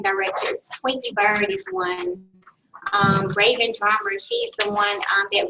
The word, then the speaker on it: Rhavynn: Twinkie Bird director, Raven Drummer. Her name is spelled RHAVYNN Drummer.